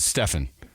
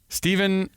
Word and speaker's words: Stephen: him in his glasses Stephen is that how you pronounced it or is it Stefan there seems to be some confusion on the internets uh Steven n roic nice W you nailed it we join the